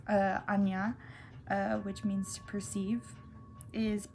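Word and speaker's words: Ajna: But okay, so third eye, which is pronounced Anya, which means to perceive, is purple, or the moon's light.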